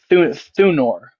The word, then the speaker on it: Thunor: Thunor. Can you spell that for me?